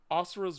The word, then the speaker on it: Asura: wow I'm gonna pick Asura's Wrath okay uh is there is Raf was that one it's Asura that's how it's pronounced but it it looks like azuras yeah it's right okay